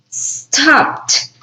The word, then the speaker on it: stopped: For example, this one, stopped, stopped. Where's the pronunciation? T. The ed sounds like T.